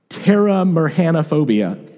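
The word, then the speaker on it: pteromerhanophobia: it up and it's terra mercanophobia it's a pt like pterodactyl silent p terra mercanophobia is the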